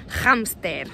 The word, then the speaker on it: hámster: ejemplo esta palabra, hámster, si pronunciamos la H, la pronunciamos como una J fuerte, hámster, en España.